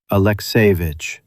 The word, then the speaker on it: Alekseyevich: Alekseyevich, she spoke into the horn, stress on the second syllable. The C softened toward SH.